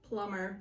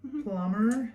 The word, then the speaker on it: plumber: B again look look when we have the B after the M the B is silent oh so number is